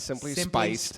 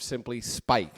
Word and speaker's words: Simply Spiked: It's not Simply Spiced. Spiked. Simply Spiked.